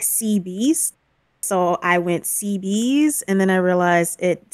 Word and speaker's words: Cebeis: it, like, Cup of Noodle always gets my name wrong. It's Seabees, but it's so funny I can't correct her.